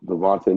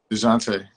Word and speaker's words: Dejounte: Devontae Murray. DeJounte. DeJounte. I knew I was saying his name wrong.